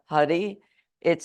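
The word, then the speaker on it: Hari: the chant Hadi Hadi Hadi it's actually h a r h a r i the r is rolled hadii Hadi and if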